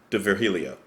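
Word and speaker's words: D'Virgilio: here nick di virgilio maybe the g is silent de virgilio i'm sorry nick the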